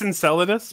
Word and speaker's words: Enceladus: yeah so I know yeah and it's it's Enceladus but I'll let it pass it's a difficult one to pronounce and I don't want know why it